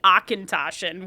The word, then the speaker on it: Auchentoshan: we had to sell, but they gave me Auchentoshan, which the amount of times I had to listen to the person that I was on a ride with, say, Akintoshin before I could even say it.